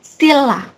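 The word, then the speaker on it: 신라: Ini ada sin ra ya, sin ra bacanya ini N-nya lebur jadi L. Jadi stilla kayak gitu.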